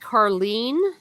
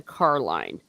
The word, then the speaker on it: Carline: DNA tests uh Jacob it is pronounced Carlene in the uh in the audio version and that's the one I use because I prefer it to Carline but yeah it just